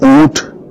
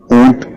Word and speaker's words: اونٹ: اچھا، ایک تو اس کا تلفظ بھی درست کر لیا جائے۔ کئی لوگ جو ہے وہ اونٹ ٹھے کے ساتھ پروناؤنس کرتے ہیں، تو یہ ٹھے نہیں بلکہ ٹے ہے، تو اس کو ہم اونٹ کہیں گے۔ اس کو خواب میں دیکھنا کیسا؟